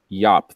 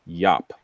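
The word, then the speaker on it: Llop: His last name is spelled L-L-O-P, which I imagine might be Yop or okay. Lop.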